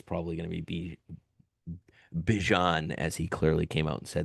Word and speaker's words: Bijan: He says you can call me whatever, but it is pronounced Bijan.